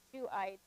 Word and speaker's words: Shuhite: So here's the pronunciation. So we have Eliphaz, the Temanite, Bildad, the Shuhite, Zophar, the Naamathite.